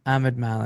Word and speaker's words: Ahmad Malik: Ahmed Malik, and you spell that Madmalik, which is obviously a name that is of, I would assume, Pakistani descent. Is this true? Yes. Yeah. But it's Ahmed Malik.